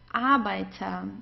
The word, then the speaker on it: Arbeiter: So here we pronounce the R in a different way, because here we have a vowel right before the R, just here and also here. So in those cases, whenever we have a vowel right before the R, we pronounce the R just like an A.